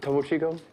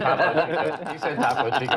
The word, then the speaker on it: Topo Chico: How do you always have Topo Chico? Can you say that You again? just find it. With Topo Chico? He said Tapo Chico. I heard it too.